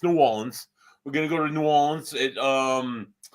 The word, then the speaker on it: New Orleans: Not New Orleans, like some people mispronounce the word, but it's New Orleans.